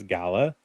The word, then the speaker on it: Gala: Actually, I messaged her to make sure I knew how to say her last name. It was Gala.